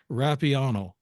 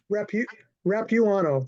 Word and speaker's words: Rapuano: It's Rapuano. Is that it? Rapuano. The U is long. Okay, Rapuano.